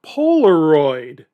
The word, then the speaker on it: Polaroid: Avon was one of the Nifty 50, and Xerox and Polaroid. Polaroid? I wouldn't want to own a company whose name rhymes with hemorrhoid.